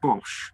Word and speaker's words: Bosch: We're pronouncing that Bosch. Bosch? Yeah. Bosch.